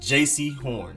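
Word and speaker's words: Jaycee Horn: horn it's literally just jc horn because at first i was pronouncing it like jc but it's jc nowhere near as much emphasis on the j part just jc not jc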